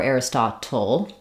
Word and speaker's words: Aristotle: English air Aris or Aristotle um typically we would say this the same as like little or Turtle where we would use a flap and a cabel um